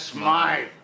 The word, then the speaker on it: Smythe: Mr. Smith is closing up his shop. That's Smythe. There you got it.